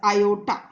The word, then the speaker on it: iota: In here you can say you will pronounce it as I, but no, you should always pronounce it as iota.